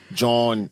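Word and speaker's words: jawn: For those of y'all who don't know, John is what they say in Philly. It's like it's an alternate dialect pronunciation of joint.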